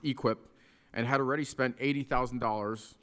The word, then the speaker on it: EQIP: A cattle farmer in eastern Missouri signed a $240,000 contract in December under the Environmental Quality Incentive Program, pronounced EQIP, and had already spent $80,000 on fencing and a well that he expected to be partly paid back by USDA.